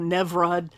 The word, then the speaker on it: Nimrod: So let's look back at the text here, and it's spelled Nebrod, and it's actually closer to the Hebrew Nevrod, but it's been anglicized into Nimrod.